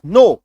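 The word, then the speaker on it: know: के एन ओ डब्ल्यू, के यहाँ पे साइलेंट होता है, इसका कनो उच्चारण नहीं होगा, सिर्फ और सिर्फ नो होगा, है ना। इसको कई लोग कनो कनो बोलते हैं, कनो नहीं बोलना है, नो, के का उच्चारण नहीं करना है, के साइलेंट होता है।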